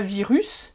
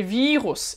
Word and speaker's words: Virus: des avis rousse et tu vois bien que c'est pas virus mais vire hausse et on accentue plutôt la première syllabe david ross est naturelle